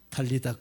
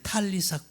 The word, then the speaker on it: 탈리사: 탈리다 쿰. 원래는 탈리사 쿰이에요. 탈리사 사 탈리사. 요거죠, 요거. 그래서 발음이 스 탈리사. 그러니까 그냥 시옷 발음으로도 되고 뭐 디귿 발음도 되고 탈리사.